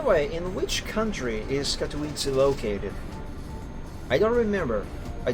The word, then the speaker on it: Katowice: I'm gonna pause the music, let me enable sound from the second PC, let's hear the correct pronunciation. Katowice. Katowice.